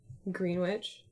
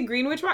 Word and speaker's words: Greenwich: Greenwich. How do you say Greenwich? Do I say Greenwich? It's like sandwich, but it's green, right?